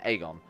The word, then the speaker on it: Aegon: In the show, they pronounce it Aegon. I always thought it was Aegon. With more emphasis on the A sound and less on making him sound like a delicious breakfast treat.